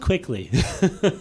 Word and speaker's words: Quikkly: It's called Quikkly. Yeah. Spelled with 2 Ks. You dragged the K out.